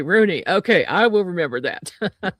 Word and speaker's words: Rugne: Uh, it's Rooney. The G is silent. Ah, silent G. Rooney.